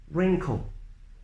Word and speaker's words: wrinkle: rap wreck wrestle Ragle without all without the W sound wrinkle raced Ryan Greek wretched